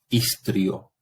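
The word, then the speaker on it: histrio: Y por otra parte, hay que recordar que la H en latín es muda, ¿sí? Entonces leo ic, istrio.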